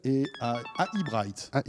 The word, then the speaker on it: AI Bright: oui très bien et bien voilà ça s'appelle et bright c'est comme ça qu'on prononceelli et vous serez tout comme nous d'ailleurs